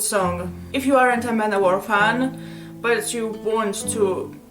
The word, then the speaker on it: Manowar: I know very well that Manavar is actually Manowar. That's how everyone pronounces it. I say Manavar because it sounds to a Russian word samovar.